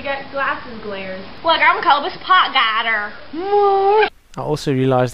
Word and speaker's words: Cobus Potgieter: Look, I'm Cobus Potgieter. I also realized how insanely hard it is for you guys to pronounce my name.